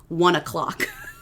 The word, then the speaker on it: One OK Rock: So he is in a Japanese rock band that is huge called One OK Rock, but it's pronounced 1 o'clock.